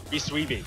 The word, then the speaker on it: Bisweeby: Bisweeby. Okay. We've been learned his name is pronounced Bisweeby. Bisweeby.